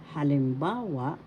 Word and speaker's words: halimbawa: example halimbawa example halimbawa first syllableol ha second syllab lim Third syllable ba syllable wa halimbawa the third syllable has the accent so you pronounce this or because halimbawa naganap naganap happen in the past.